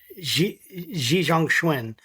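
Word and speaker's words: Xi Zhongxun: Um so I can know how to pronounce it. Yeah. Xi Janguini Xi Jang Schwin.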